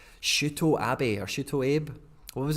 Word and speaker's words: Shuto Abe: It's like in Japanese names, it's all like 2 letters as a syllable, and they're all short. There's no like elongated like vowels or anything like that. So Abe, it would be Shu Uto Abe. Shu Uto Ut Sh Ut O Shuto Abe.